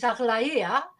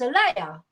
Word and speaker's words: Aglaia: My name in Greek is Aglaia, if you want to pronounce it right, but in English it's Alea.